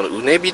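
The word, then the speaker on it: 畝傍: はい、で今私が来ているのがですね JR 桜井線のうねびという駅なんですね。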